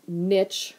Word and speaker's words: niche: First, let's clear up pronunciation of niche. Some people say niche. I'm going to say niche.